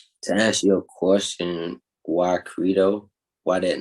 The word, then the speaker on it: Credo: In Latin, it will be pronounced Credo.